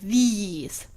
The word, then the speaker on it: these: The second one is long, like these. The first one is short, like this.